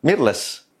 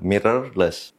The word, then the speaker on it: mirrorless: DSLR atau DSLR mirrorless jenis kamera Mir sering disebutkan mirrorless atau mirless yang benar adalah mirrorless crop Factor sering salah